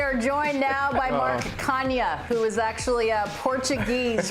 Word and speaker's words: Canha: it actually, I mean, if we're going to be technically correct, it's Canha for the Portuguese people out there. They know how to say it, but I'm like third